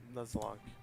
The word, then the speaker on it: Nuzlocke: Is that how you pronounce it? Oh yeah, Nuzlocke.